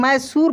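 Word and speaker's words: Mysore: मैसूर सासोर ऐसे पढ़ेंगे लेकिन इसको हम मैसूर पढ़ने हैं यानी इसका अपना स्पेलिंग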